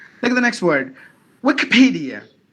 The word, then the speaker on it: Wikipedia: take the next word Wikipedia Wikipedia P should be given more volume look at the next